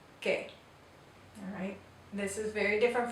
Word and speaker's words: que: So the letter U here in this word is silent because it follows the Q. This word is que.